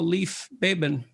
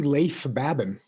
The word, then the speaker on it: Leif Babin: the dichotomy of leadership with fellow retired seal leif baben did i pronounce that right it's actually leif babin oh so i didn't pronounce it right at